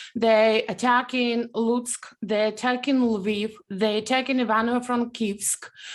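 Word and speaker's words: Lviv: is there a russian and ukrainian way to pronounce that one as well correct luvo it's a russian way oh no and correct way in ukrainian way it's leave okay i spent some time in in ukraine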